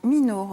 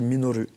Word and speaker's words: Minoru: Alors, Jean-Michel Nert, votre deuxième roman, Minoru, alors je le prononce à la corse.